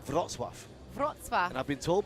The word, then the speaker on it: Wrocław: How do we pronounce that? Wrocław. Wrocław. Yeah, it's spelled W-R-O-C-L-A-W. It looks like Warclaw.